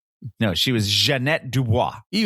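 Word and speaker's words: Ja'Net DuBois: And even though it was spelled Janet, she pronounced as Janette because I remember that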